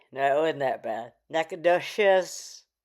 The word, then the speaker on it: Nacogdoches: Nakados. Oh, it's a hard ch like cheese.